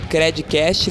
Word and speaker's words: Credcast: Até a próxima e não esquece de compartilhar também o nosso conteúdo aí com a hashtag Credcast, lembrando que o D é mudo.